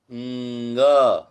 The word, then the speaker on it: ङ: क, ख, ग, घ, ङ। यानी वो ड जैसा दिखता है, लेकिन आगे एक बिंदु है, तो वो क ख ग घ ङ, ऐसा अनुनासिक उच्चारण है।